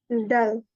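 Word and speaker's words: 달: Kak Hanifah dal. Oke. Ini kan D A L. Kalau L di bawah bacanya ya L gitu. Kalau di depan bacanya R ya teman-teman walaupun tha.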